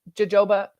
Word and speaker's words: jojoba: But this features plant oils, coconut, jojoba. Did I pronounce that in the correct way?